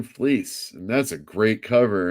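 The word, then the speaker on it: Fleecs: Fleece.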